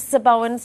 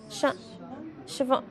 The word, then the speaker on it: Siobhan: Let's get into Sir Bowen's text. 24. Is it Sir Bowen? Siobhan.